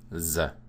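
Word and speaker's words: з: It's simply the Russian z. So like Z in zone, z. It's their Z sound.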